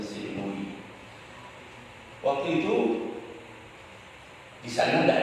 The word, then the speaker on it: St. Louis: Louis, bacanya St. Louis.